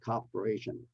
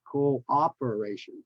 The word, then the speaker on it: cooperation: you for your cooperation it's not cooperation is cooperation so two syllables in the beginning Co-op okay cooperation believe Middle